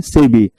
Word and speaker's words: SEBI: State bank of India को आप SBI बोलते हैं, लेकिन SEBI नहीं बोलते हैं, उसको क्या बोलते हैं? सेबी। The word which has got the status of acronyms, that is only eligible to be pronounced as a word.